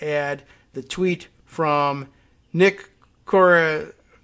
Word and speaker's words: Corasaniti: The tweet from Nick Corasaniti. I thought it was Nick Corasanti, and I think I hear that name pronounced that way once in a while, but it's spelled Corasaniti, Saniti at the end.